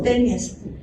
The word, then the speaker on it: taenia: todas se conocen como tenias. Algunas reciben el nombre en su género de taenia y se lee tenia.